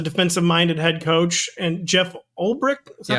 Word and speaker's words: Ulbrich: And listen, I know Robert Saleh was a defensive-minded head coach, and Jeff Ulbrich, is that how you say his name?